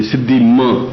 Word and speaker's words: सिद्धिं: इसमें एक थोड़ी गलती रह गई है, सिद्धिं के ऊपर बिंदी होनी चाहिए, सिद्धि म ऐसा बोलना है।